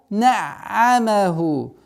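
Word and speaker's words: نعمه: Ва на'амаху. На'амаху. Одна из самых распространенных ошибок при удвоении над звуком айн проглатывается звук. На'амаху, на'амаху. Нет. Нужно помягче, легче произносить. На'амаху, на'амаху.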